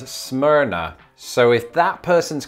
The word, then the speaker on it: Smyrna: was a kid and i think it is smyrna okay i couldn't find much information on this except for a forum post from 2012 where a user says that locals pronounce it as smyrna so if that person's